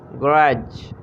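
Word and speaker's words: grudge: हसद करना, ग्रज, ग्रज। यहाँ डी को साइलेंट रखेंगे।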